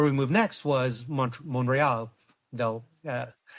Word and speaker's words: Montreal: move next was Mont Monreal. They'll uh I'll hear it from one of my friends if I don't say it properly if I say Montreal.